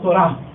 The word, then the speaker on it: Torah: Y en el Antiguo Testamento encontramos ese conjunto de enseñanzas reveladas de parte de Dios en un vocablo hebreo que se pronuncia Torah, la Torah.